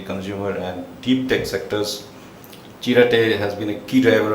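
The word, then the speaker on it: Chiratae: Sudhir Sethi, sitting next to me, the founder and chairman of how do you pronounce that? Chirate? Chirate.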